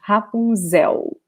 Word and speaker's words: Rapunzel: is happy okay so remember the l in portuguese in this position ending a word will have the sound of ooh okay not a nail sound hapunzel okay so let me